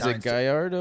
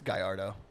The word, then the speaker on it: Gallardo: like you know how those D is gardo or Gallardo it's Gallardo I'd never pronounced it correctly till just now i' said gardo my whole life I'm a [ __